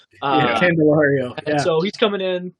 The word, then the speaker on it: Candelario: Jamer, I'm saying it wrong, like Candelero. Candelario.